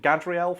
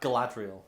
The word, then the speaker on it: Galadriel: Isn't it Gadriel from... Or how do you pronounce that? Galadriel.